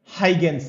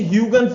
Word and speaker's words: Huygens: हाइगेंस ने। हाइगेंस, clear है क्या बात? हाइगेंस ने। इसे ह्यूगन्स भी बोलते हैं, कुछ लोग इसे प्रोनाउंसिएशन ह्यूगन्स, ह्यूगन्स भी बोलते हैं।